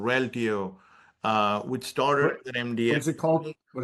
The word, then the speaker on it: Reltio: Like I'm an advisor in a company called Reltio, which started with an MDM.